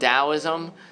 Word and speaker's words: Taoism: it's good Confucianism and Daoism Taoism it's pronounced with like a hard D soft T sound Taoism and Confucianism and then